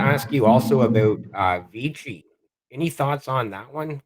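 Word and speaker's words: VICI: the ticker sorry Vichy I've also heard it pronounced VC like v-i-c-i I believe it is oh yeah yeah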